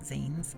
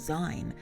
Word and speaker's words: zine: you should know about zines is that the word is short for magazine and therefore it's pronounced zine and not sein as i often hear